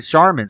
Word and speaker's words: Charmin: toilet paper as Charming so with that logic it should be Charming but they pronounce it charman so maybe you're right maybe originally it was charm and over time they just started saying charman I think they just